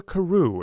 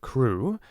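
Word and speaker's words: Crewe: the name madame pascal pronounced it as if it were karoo instead of crew but that might be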